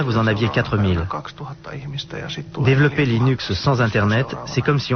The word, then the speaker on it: Linux: puis le surlendemain vous en aviez 4000 développer Linux sans internet c'est comme si on voulait jouer